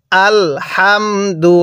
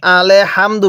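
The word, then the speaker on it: الحمد: হ্যাঁ পড়ুন আল হামদু এখানে অনেকেই আলে পড়ি এই লামের মধ্যে লে পড়ি আলে হামদু পড়ি যদি আলে হামদু পড়ি তাহলে কিন্তু পড়াটা সহি শুদ্ধ হবে না তাহলে কিভাবে পড়তে হবে আল হামদু হ্যাঁ কিভাবে পড়বো আলহামদু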